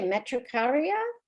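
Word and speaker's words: matricaria: So this essential oil is also known by the name matricicara, which I can never pronounce. How do you pronounce that? I'd say metricaria. That's it.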